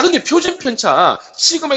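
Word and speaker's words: σ: 자, 이것을 읽을 때는 시그마라고 읽습니다.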